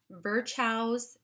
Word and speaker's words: Virchow's: And I wanted to just mention to you something called Virchow's triad. Virchow's is spelled VIRCHOW''S, triad.